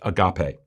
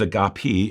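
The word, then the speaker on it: ἀγάπη: the final word for love is most commonly pronounced agape uh though it can also be read as a gapi in the original greek most in the west pronounce it agape this one really stands out and is the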